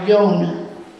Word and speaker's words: youn: for the number one if you're using the spelling y-o-n or y-o-u-n you would pronounce that more young like i have one thing usually you're going to hear it pronounced that way days of the week